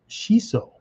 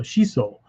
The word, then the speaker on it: shiso: system maybe um it's it tells you to to hold the O twice as long it just makes it longer so shiso and shiso is pretty